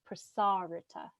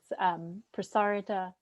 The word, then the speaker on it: Prasarita: flow go ahead um put the emphasis on the second a prasarita prasarita padu tanasana okay and